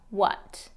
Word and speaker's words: what: To, it can be ta, it can be to in the pronunciation. What. You want to make sure that a is reduced to that what.